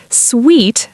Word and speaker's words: suite: Sweet, pronounced sweet, is always a noun.